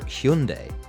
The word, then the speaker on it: Hyundai: Interestingly, car maker Hyundai, and yes, apparently that is the right way to pronounce it, but we did have to check.